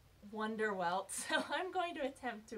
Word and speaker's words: Wunderwelt: high school in college my instinct is to pronounce it as bender belt so I actually checked their website to make sure by looking at the katakana on their Twitter account and it is indeed pronounced Wonder well I'm going to attempt